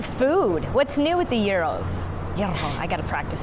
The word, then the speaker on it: gyro: Did I say it right? Because you know that's the big debate. How do you say it? Gyro, gyro, gyro. Yes. Gyro. You said it right.